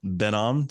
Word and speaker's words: Ben Am: cool so I want to welcome uh benam to the uh program I think I pronounced it right right you nailed it could